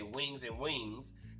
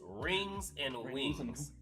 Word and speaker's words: Rings and Wings: I always have to make sure I pronounce it right because I always say wings and wings, but it was rings and wings.